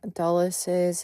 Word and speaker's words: Dulles: I just wanted to say that I was pronouncing Alan Dulles's name incorrectly throughout this portion of the video. And I know that it's Dulles.